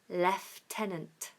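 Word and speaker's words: lieutenant: English comfortable your turn good and we have left tenant left tenant well done all right let me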